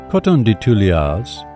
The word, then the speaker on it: Coton de Tuléar: Coton de Tuléars, pronounced Coton de Tuléar, are small and incredibly affectionate dogs with a white, long coat that does not shed.